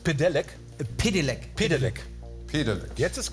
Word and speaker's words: Pedelec: Aber die richtige Aussprache ist Pedelec.